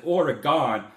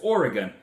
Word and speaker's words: Oregon: someone in Oregon said please do not pronounce it Oregon it's Oregon we're still here we're not gone so I'm going to try